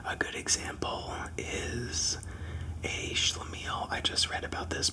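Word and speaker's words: schlemiel: Um, so a good example is a schlamile.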